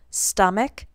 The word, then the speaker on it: stomach: The one exception is when the ch at the end of the word is pronounced like a k. For example, stomach, stomachs.